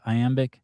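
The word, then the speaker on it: iambic: It's amic pentameter, isn't it? Did I say it right? Aamic. Yeah. Aamic.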